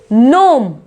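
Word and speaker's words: gnome: इसको गिरनाल नहीं बोलेंगे, क्या प्रोनाउंस करेंगे हम? नार्ल। ऐसी नोम, नोम।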